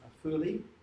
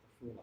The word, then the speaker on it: Afula: The Arabs call it Afuli. And one of the things that's happening, even with, and many of these are just traditional Arabic names, but Israel is imposing a standardized spelling and pronunciation, which is Hebrew spelling and pronunciation, on the Palestinians. So by choice, I always refer to it as Afuli.